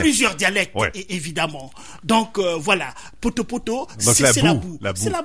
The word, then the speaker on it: Poto-Poto: Oui, Poto-Poto. Voilà, c'est un plaisir de le prononcer.